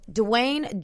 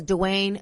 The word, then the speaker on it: Dwayne: up our lives so Dewayne Johnson the rock no it's Dwayne the rock Johnson that's how you say his name so Dwayne the rock